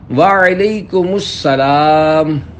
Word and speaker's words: وعلیکم السلام: جواب سناتا ہوں، پھر آپ اس کو دہرائیے۔ وعلیکم السلام۔ رضائے حق کے لیے تم سلام عام کرو،